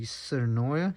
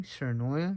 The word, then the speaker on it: Tsurinoya: I got was the serenoia that's how we pronounce the company serenoia it's the 1000 Jaguar